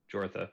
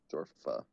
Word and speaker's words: Jorfa: I would say like the goal for Joffre is to like find out any like peculiar Jorfa. rumblings. Jortha, sorry. Jorfa. I'll spell it.